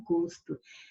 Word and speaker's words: gosto: É o gosto. Som fechado, substantivo.